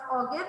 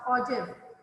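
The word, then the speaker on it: ogive: o o g i v e it's not pronounced aive it's pronounced oiv this is again a type of frequency polygon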